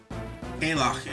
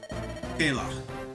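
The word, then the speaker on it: Caellach: This one is easy enough. Kalach is how I think that would be pronounced.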